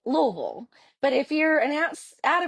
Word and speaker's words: Louisville: And so if you're from Kentucky, you pronounce it Louisville. But if you're an out of stater, a lot of times we hear folks pronounce it Louisville.